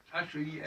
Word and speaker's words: Heil: H-E-I-L. H-E-I-L, ouais. Alors, E, c'est encore particulier. Ouais. Le I, il le prononce Heil. Il le prononce I aussi, comme les Anglais.